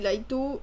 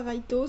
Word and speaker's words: Laito: mais c'est c'est pas Raito c'est laito alors non parce que bon Raito au Japon le r se prononce l en fait et dans les pays